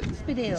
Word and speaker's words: Spiddal: We're in Spiddal. We're on Spiddal. Spiddal. Spiddal. Spiddal. Spiddal in English. Spiddal. Spiddal. Spiddal. On Spiddal in Irish. Beautiful. Okay. We're in Spiddal.